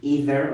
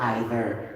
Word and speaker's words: either: English or American English we can use it either the two words either okay either or either neither or neither so it depends on Horizon or Horizon advertisement advertisement so I'm not saying it's wrong okay it depends on what you are using your basis of your pronunciation at the point things